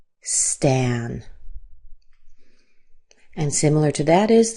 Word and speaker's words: Stan: This name is Stan. Here's the symbol for a. This is the A like cat. Stan.